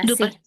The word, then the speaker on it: passé: parler, tradición, du pas, Du du pas, passé. Bien, du ahí passé. tiene acento la E, por eso sí la Sí, pronuncio. ahí le vi.